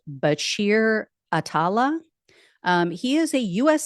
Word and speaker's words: Bachir Atallah: I believe his name is pronounced Bashir Atala.